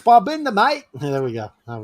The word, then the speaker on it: Babinda: Oh, it's Babinda, mate.